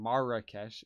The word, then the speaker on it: Marrakesh: Marrakesh is how you're supposed to pronounce it.